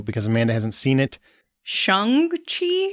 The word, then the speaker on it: Shang-Chi: but they did not it's actually like sean with a g at the end chi shang chi we'll talk about that